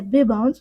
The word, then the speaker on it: Bbans: Et si tu veux papoter, envoie-moi un petit message sur Instagram, c'est Bbans, comme ça se prononce, B-B-A-N-S, et c'est suivi d'un cœur violet.